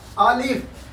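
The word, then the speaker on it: الف: एफ पच नहीं लिखेंगे ए एल आई एफ अलिफ और इसको लिखेंगे बे बीई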